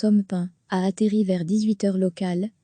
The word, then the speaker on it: Amphan: Amphan, se prononce Amphan, a atterri vers 18h